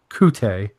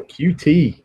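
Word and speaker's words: Coutee: So Kiki Kute. No, QT. QT. QT. Like cutie pie.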